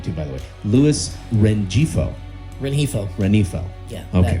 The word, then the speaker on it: Rengifo: Luis Rengifo. Yeah. Okay. That G is silent. That G is silent. Rengifo.